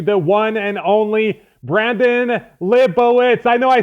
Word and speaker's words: Libowitz: I present you the one and only Brandon libowitz I know I said your name wrong Brandon how do you say it again